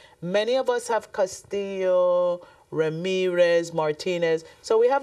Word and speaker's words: Castillo: my family name is Castillo but I do know that Castillo is a Spanish last name um I've heard very many versions Castello castio but I believe it's pronounced Castillo c a s t